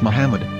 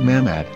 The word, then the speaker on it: Muhammad: According to Ben Yehuda's Hebrew English dictionary, it is correctly pronounced as Muhammad, not Mammad.